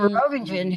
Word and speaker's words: Merovingian: And the movie I was referring to was Matrix Reloaded, because Merovingian, and you can say that 5 different ways, but it's French and don't pronounce the G.